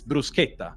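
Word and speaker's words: bruschetta: you say it guys you say Bretta for example it's not brushetta it's brusa all right we say brusa not brush so if I was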